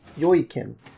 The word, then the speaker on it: Joakim: It's a Swedish name, and it's Joakim. Joakim. Yeah, I think Joakim. That's how you pronounce it.